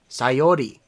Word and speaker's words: Sayori: sayori suicide mm-hmm or hold on let me pronounce that a little better sayori there we go yeah and that just hurts